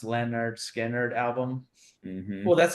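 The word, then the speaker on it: Lynyrd Skynyrd: And it was on their pronounced Leonard Skinner album.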